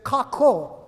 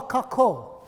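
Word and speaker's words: kākou: It's kako. Now, it's spelled differently in Hawaiian, but it's pronounced like ka, like a raven or a bird, ka, and ko, like co-worker or co-ed or co-opted.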